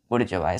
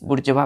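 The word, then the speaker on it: bourgeois: word use किया हमने बुर् जवा स्पेलिंग ध्यान दीजिएगा बच्चों बी ओ यू आर बुड जी ओ आई एस बुर् जवा पढ़ते हैं इसको प्रोसेशन क्या करते हैं बृजवा क्लियर है चलिए पांचवा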